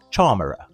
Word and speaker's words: Charmera: It's pronounced charm, as in charm, because of its size. Combine that with the error part of camera, and you've got it, Charmer.